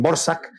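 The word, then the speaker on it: Dvořák: eh que se llama Antonín Borsac, aunque se escribe de Borac. Yo nunca me he explicado por qué de Borac se le Borsac, pero bueno.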